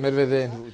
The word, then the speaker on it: Medvedev: Parce que le nom de ce Premier ministre, je ne parviens jamais à le prononcer, Medvedev. Medvedev, très bien.